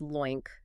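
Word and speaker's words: LOINC: So Lo I N C that's pronounced loink is used specifically for lab results.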